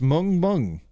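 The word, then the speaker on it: 멍멍: It's woof woof in Korean, pronounced mung mung.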